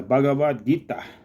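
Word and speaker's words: Bhagavad Gita: the Hindu holy book The bhagavad-gita that's the proper pronunciation and the various yoga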